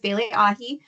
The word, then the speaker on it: Bailee Ahee: having me and again my name is bile AI it is commonly mispronounced but that's totally fine um so I a little trick to remember is AI like AI tuna um all right moving